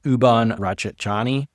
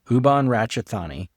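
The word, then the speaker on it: Ubon Ratchathani: The entire border frontier from Uban Rachani I'm saying that wrong. And Sysak I think you mispronounced that. Ubani Uban Ratchetani and Sisaset.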